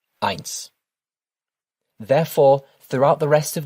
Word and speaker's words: ein: The best way to think of it is to think of the word Einstein and take off the time, leaving you with Ein.